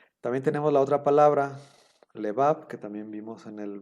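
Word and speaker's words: לבב: También tenemos la otra palabra, lebab, que también vimos en el vocabulario. Lebab, que significa corazón, se divide en le. La primera sílaba es le, sílaba abierta, bab, sílaba cerrada.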